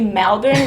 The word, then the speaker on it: Melbourne: from Melbourne, poor things, they pronounce that E sound a bit lower before an L, like welcome to Melbourne, and they say salary and celery the same way, whereas in New South Wales people distinguish between celery and celery.